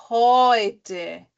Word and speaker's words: heute: É E-U, mas aí ele fica com a pronúncia de Oi. Então fica, por exemplo, Freund, Europa, heute, Euro. Tá? Tudo Oi, Oi, Oi.